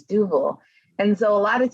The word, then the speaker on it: Duvel: they want to argue with me how to pronounce dougal duval is not french it's not duvel if you want to call it do well you can but it's not french it's double and so a lot of times i'll just